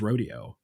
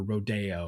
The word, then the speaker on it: Rodeo: piano reduction of Copeland's Rodeo or Rodeo or different people pronounce it different ways but hod down from